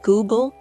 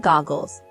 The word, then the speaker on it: Google: My grandmother tried to correct his mispronunciations, pointing out that it was Google, not goggles, and Chrome, not columns.